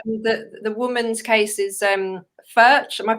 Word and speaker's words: ferch: But the woman's case is Ferch. Am I pronouncing that properly? Ferch, and that's the daughter of.